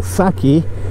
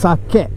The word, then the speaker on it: sake: other drinks like uh what everyone in the west would call saki it's actually pronounced sake so make sure you